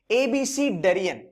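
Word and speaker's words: abecedarian: ABCD के format में, इसका यूज है, इसका प्रोनाउंसिएशन है एबीसीडेरियन.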